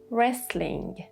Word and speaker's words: wrestling: Then wrestling. Wrestling. No w, no T.